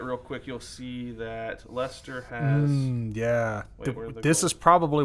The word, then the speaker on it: Leicester: uh so if they finish like Lester that's how you say it yeah Lester Lester Leicester